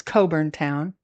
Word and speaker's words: Cockburn Town: Back in Coburn Town, seriously, it's spelled like Cockburn Town, but it's Coburn Town.